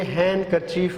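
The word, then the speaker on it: handkerchief: ये यहाँ पे देखें, आपको अगर देखें तो लिखा हुआ है हैंड करचीफ, लेकिन यहाँ पे डी नहीं पढ़ा जाएगा, तो ये हैंड करचीफ होगा.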